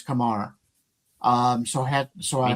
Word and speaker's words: Kumar: Uh and by the way, I've been pronouncing his name wrong all the time. It's not Kumar, it's Kumar.